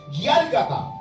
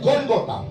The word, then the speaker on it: Gólgota: Sigue diciendo la historia romana que en el idioma de ellos le pronunciaban Gálgata, pero para nosotros significa el Gólgota.